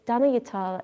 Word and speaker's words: Danayutta: It's Danayutta and it rhymes with guitar.